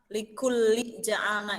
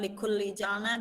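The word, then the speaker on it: لِكُلٍّ جَعَلْنَا: Tadi ada sedikit di dalam pembacaan yang likulli ja'alna ya. Tadi Elma likulli ja'alna itu ada tanwin dan dibacanya ikhfa ya. Jadi bukan likulli ja'alna tapi dibacanya likulli ja'alna.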